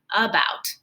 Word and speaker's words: about: Ah, it doesn't say A. It kind of makes a U sound. About. About, about. Yeah, it doesn't really sound like an ah, like cat.